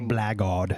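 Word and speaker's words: blackguard: until the mid 1700 a blackard as he just said him blackard blackard yeah some some words they enunciate not at all in other words they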